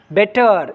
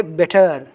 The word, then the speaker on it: better: Better, you should not say better. You have to say better, better.